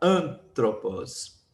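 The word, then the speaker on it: ἄνθρωπος: Ou seja, para que antropos, essa palavra aqui, receba o acento aqui, ó, o no A, no alfa, som de A, antropos.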